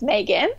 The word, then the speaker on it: Maghon: I can possibly remember my name is Megan and my mom chose to spell it M agh Oh n which is not how